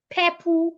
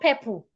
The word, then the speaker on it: purple: Not my pastor loves purple color. It's not purple. Purple. Purple.